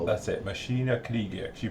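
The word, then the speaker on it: Maschinen Krieger: You pronounced it beautifully. Machinen. Yeah, Krieger. As you call Machinen Krieger. Yeah, that's the one. Machinen Krieger, that's it, we'll call it. That's it, Machina Krieger.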